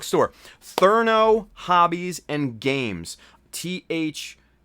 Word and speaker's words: Thernot: THERNOT. So Thernot. But it's pronounced Therno, I think.